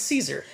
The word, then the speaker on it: Caesar: in this particular case I am willing to believe that Kaiser is actually the correct pronunciation okay so where all